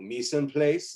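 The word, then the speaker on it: mise en place: you is to with a french called mison place is how you pronounce it everything it's a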